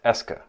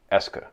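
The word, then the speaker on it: est-ce que: quoi now French has an overt question marker pronounced Eska it's spelling preserves historical facts about how it came to be but now it's a lot easier to just analyze it as being a single word that marks questions that's pronounced ESCA we'll use that question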